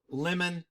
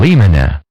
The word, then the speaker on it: in limine: get the pronunciation because most call a motion in limine or lemon you'll hear a call lemon or a lemony here's how you pronounce it cuz I always got people coming near complain and then I pronounced it wrong and lima net in lima net in lima net all